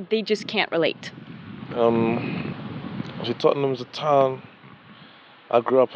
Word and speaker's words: Tottenham: It's Tottenham. Did I say it right? Yeah, Tottenham.